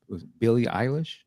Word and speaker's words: Billie Eilish: I thought you would just you order online, but apparently it was Billie Eilish, if I'm saying it right.